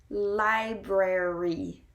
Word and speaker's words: library: and how it works so i will say it very slowly and spread out for you so you can hear it li brer e library the library library and there we have two are spread out library library and i